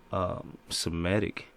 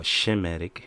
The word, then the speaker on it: Semitic: to call the Israelites Semitic, all right, or Shemitic, because it's really Shemitic, all right, and and we Shemites, man. How you gonna be anti Semitic or Shemitic, the proper way to say it.